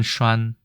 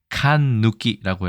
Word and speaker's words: 閂: 글자로 보시면 되고 중국어로는 아까 말씀드린 슈안이라고 하고 이렇게 간체자로 쓰는 경우가 많고요. 타이완, 홍콩, 마카오에서는 슈안 발음은 타이완 발음 기준으로 똑같습니다. 일본에서도 산이라고 되어 있고 훈독으로 특히 칸누키라고 해서 이걸 빗장이라고 빗장